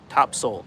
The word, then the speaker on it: Topsail: I'm on an island it's called top sale Island North Carolina we the locals pronounce it top Soul Island well somebody hears me